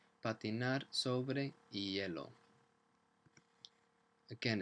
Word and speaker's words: hielo: And the H, we don't say hielo. It's just the H in Spanish. It's as if it isn't there. You never pronounce it. Patinar sobre hielo.